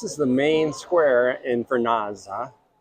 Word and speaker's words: Vernazza: Do it with the Italian. Vernazza. Vernazza.